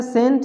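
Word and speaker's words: scent: जैसे देखिए यहाँ पे है सेंट, तो सी से पहले एस है तो ये सी साइलेंट है। एस को पढ़ते हैं, सी को नहीं पढ़ते, ये सी साइलेंट है। तो इसको पढ़ते हैं सेंट, सेंट मतलब खुशबू, सुगंध।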